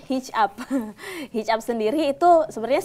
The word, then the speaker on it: Hijup: iya mungkin mungkin andeming tulisannya kan hijup bacanya hit up hit up sendiri itu